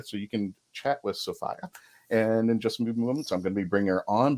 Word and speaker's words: Sophia: the correct way to say her name is Sophia I've been corrected and I've corrected my 10-year